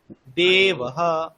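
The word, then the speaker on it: देवः: সেটা কি এটা হস্ তাহলে উচ্চারণটা আমার কিরকম হবে তে বেশি টান হবে তার থেকে হাফ টান হবে অয়েতে দেবহ এরকম দেবহ দেবহ দেবহ হ্যাঁ দেবহ আর এখানে কিন্তু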